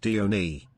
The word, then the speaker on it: Dione: By the way, it's pronounced Dione. Oh, Or Dione. you can call me Dio.